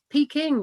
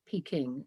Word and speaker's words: Peking: Peking is a romanization which was made in the 17th century by French Jesuits, who bizarrely rendered the sound j or ch with a k.